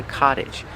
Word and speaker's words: cottage: A smaller house is called a cottage. There are a lot of cottages here. Pronunciation. The T makes a fast D. Cott cott cottage.